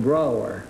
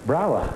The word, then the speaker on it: Brougher: riley is that right no dr brawler brawler yes it rhymes with b-r-o-w-e-r why do you have